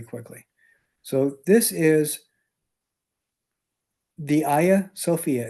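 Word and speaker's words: Hagia Sophia: So, this is the Aya Sophia. It's spelled Haga, but it's pronounced Ya.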